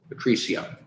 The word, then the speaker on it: Patricia: Patricia. Got to get the accent on the right syllable there.